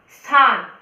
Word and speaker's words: स्थान: स्थान, स्थान आधा स आया है, उसका उच्चारण जैसे स्कूल होता है ना वैसे ही स्थान होगा।